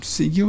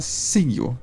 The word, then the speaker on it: Sigil: Bom, Sigil se pronuncia Sigil e não Sigil.